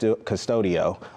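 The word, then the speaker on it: Qustodio: another one is called cust custodio uh spelled with a Q so that's one really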